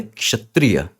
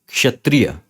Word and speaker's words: क्षत्रिय: word है ये तो यह क्षत्रिय नहीं है यह है क्षत्रिय क्षत्रिय क्योंकि क और श से बना है तो आपको खुद बोलने में यह चीज पता चलेगी कि क्षत्रिय नहीं क्षत्रिय यह सही प्रोनंसिएशन यह